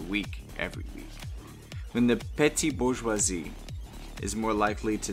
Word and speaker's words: petite: french for small and then this context it's pronounced more like petty so petty bourgeoisie who have done well enough